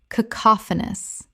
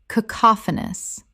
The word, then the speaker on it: cacophonous: Cacophonous. Correct pronunciation. Cacophonous. 4 syllables with the stress on the second, meaning harsh and discordant in sound.